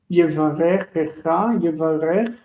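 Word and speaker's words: יברכך: We pronounce that even though we have a short vowel here, and it would look like this is a closed syllable, Yevarecha, because we have two kafs together, we need to pronounce that shva.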